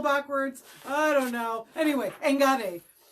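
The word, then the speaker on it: enkare: Anyway, engare. So it's not a sharp K sound. It sounds more like a G, but it is spelled E-N-K-A-R-E, engare.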